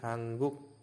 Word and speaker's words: 한국: eh bcimnya adalah niion bertemu dengan kok Nah dibacanya bukan huk tetapi hangguk ya hangguk Nah hangguk di sini ada Jak